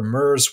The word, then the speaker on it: Myr: Myr comes from the word Myrmidon, which the definition is a follower or subordinate of a powerful person. And in the lore, Myrs were servants of Memnarch,